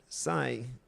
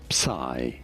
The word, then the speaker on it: psi: Now, in English the most common pronunciation is as psi, okay?